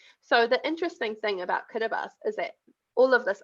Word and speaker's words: Kiribati: tribe so it's in kiribati so it's about kiribati but it's pronounced pronounced the ti is pronounced as an es so the interesting thing about kiribati is that all of